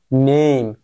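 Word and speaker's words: name: নেম। উচ্চারণটা কি হইছে?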